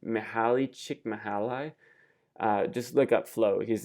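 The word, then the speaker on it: Mihály Csíkszentmihályi: His name I think is pronounced Mihaly Csikszentmihalyi.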